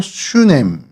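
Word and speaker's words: שונם: 어, 수냄이 히브리어로 슈냄 그니까 뭐 발음이 거의 같다라고 보시면 되고요.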